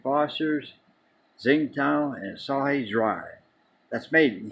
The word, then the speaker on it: Tsingtao: Tsingtao, I think it's pronounced.